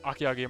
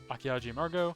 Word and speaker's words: Akiaji: another wonderful envy tuber akiago margot no archaeology sorry i pronounced the j like a g akiaji she's i think drawing